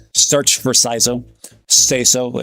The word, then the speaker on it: Saizo: Saizo is the common pronunciation. That's what it's called. SCISO is the popular pronunciation.